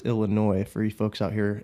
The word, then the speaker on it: Illinois: The S is silent. There's no noise happening in Illinois.